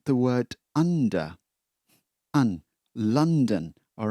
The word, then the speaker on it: London: Many of you, when you say this place, well, probably you will say London, but it's not London. Well, this sound here, it's London. Un. It's like the word under. London.